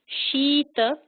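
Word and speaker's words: शीत: So if you saw this word without the diacritical marks, you would think it's Sita or Sita, but pay attention to these marks. Shita, because you may see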